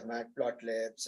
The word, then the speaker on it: Matplotlib: Python first came, the SAS and the matplotlibs, and so, I mean, not matplotlib, what is it called?